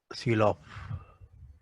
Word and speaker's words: Sylow: Okay, this is pronounced as Sylow. Okay, this, okay, Sylow subgroup.